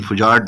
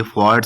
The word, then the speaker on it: fjord: हम इसको फेक्ट कहते लेकिन fujad नहीं है ये फोर्ड से बोला जाता है जहां पर हमारे पास